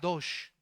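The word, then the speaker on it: קדוש: La palabra en el original es una palabra hebrea que se pronuncia kad cadosh, que significa estar apartado para el servicio exclusivo a Dios.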